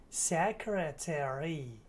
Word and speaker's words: secretary: Well, in this case, ARY at the end of words is gonna indicate that in American English, we're gonna pronounce the full word. Library, secretary, military. Library, library, secretary, secretary, secretary, secret, secretary, yes.